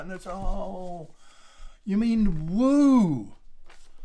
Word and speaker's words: Wahoo: you spell that and that's oh you mean woo right you know you know pronounce it wahoo you idiot it's woo don't